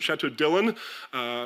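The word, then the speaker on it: Château Dillon: Bern, Dillon, you can get Chateau Dillon, as the French pronounce it, Chateau Dillon, made by the wine school in Blanquefort, just north of Bordeaux to this very day.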